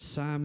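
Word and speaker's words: Psalm: book to the Bible but Sam is how you really pronounce it pastor Dwight it's how they pronounce it in heaven and Sam 51 you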